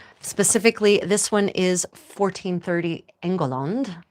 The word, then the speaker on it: England: Specifically, this one is 1430 engul as it would have been pronounced in the 15th century.